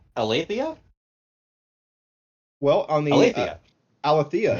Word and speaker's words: Aletheia: Aletheia is how they pronounced it in the song. Aletheia. That sounds way more Greek to me.